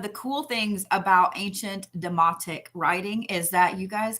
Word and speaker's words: demotic: language called the a-e-m-o-t-i-c not demonic demotic so there are two